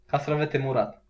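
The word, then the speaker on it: castravete murat: to say it like Castavete Mora. Holy shit! I have no idea. That was pretty good. What is it actually? It's a pickle. Pickle? Yeah. Oh. And how do you say it? Castavete Murat.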